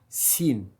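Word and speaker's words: س: La suivante, sin. Sin, comme le S.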